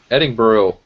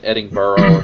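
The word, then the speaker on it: Edinburgh: let me know that it's pronounced eding eding buru I think I said eding burrow or something like that but looks like a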